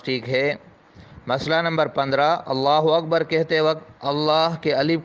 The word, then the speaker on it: اللہ اکبر: تو نماز جاتی رہے۔ اسی طرح اگر اکبر کی بے کو بڑھا کر پڑھا، یعنی اللہ اکبر، تو بھی نماز جاتی رہی۔ صحیح تلفظ ہے اللہ اکبر، اللہ اکبر، اس طرح پڑھنا چاہیے۔ مسئلہ نمبر 16، کسی